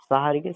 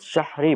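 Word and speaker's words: সাহরি: তো এটা আমাদের উচিত শাহরি বলা, কারণ রাসূল সাল্লাল্লাহু আলাইহি ওয়াসাল্লাম তো বলেছেন, সহিহ বুখারী হাদিস নাম্বার 1923, তোমরা শাহরি খাও, কেননা এতে রয়েছে বরকত।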